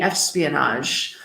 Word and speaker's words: espionage: people so we see espionage soft G espionage monitor eavesdrop wiretap bug